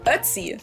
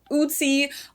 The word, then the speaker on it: Ötzi: Ötzi. That's how his name is pronounced in German, at least. In English, I've literally heard all kinds of pronunciations. Ötzi. Even in documentaries, I've heard Uzi, Otzi, Azi, everything.